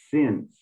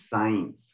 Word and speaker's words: since: very good the word before confirmed is since not science sings okay and one thing